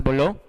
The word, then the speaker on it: Boileau: En Francia estaba Nicolas Boileau, se escribe Boileau, pero se pronuncia Boileau.